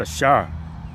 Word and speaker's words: Asher: So Asher means happy and in the Hebrew it is pronounced Ashar.